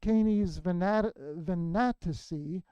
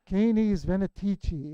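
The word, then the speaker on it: Canes Venatici: a constellation I that I've been mispronouncing my entire life for about a half a century I've been calling it caney's vanity it's a venetici M3 the hunting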